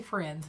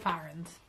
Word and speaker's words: Firens: I say Friends, but it's spelled Firens.